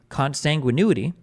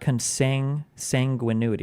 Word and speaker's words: consanguinity: within certain degrees of consanguinity cons cons cons oh my God it's not it's not cons sanguinity it's not that it's consanguinity consanguinity consanguinity how the